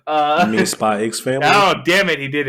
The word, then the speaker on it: SPYxFAMILY: This man made a joke earlier about pronouncing the X. We don't do that here. You mean SPYxFAMILY?